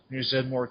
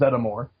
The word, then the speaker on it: Zeddemore: And actually, here, but when both Winston and Janine say his last name, it actually is 3 syllables. It's Zeddemore. Zeddemore?